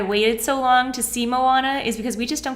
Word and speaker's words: Moana: M Oh a na so it's a Moana because I thought there was an L in there okay I'm mallanna so I wasn't really watching